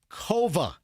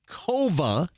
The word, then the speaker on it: Kova: new family dental practice, Kova, Ko Va, Kova rhymes with Nova.